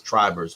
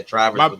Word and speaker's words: Trivers: I never get mad at anybody because everybody calls me Trivers that they've never met me, but it's Trivers with a long I. There you go. Yeah. Trivers.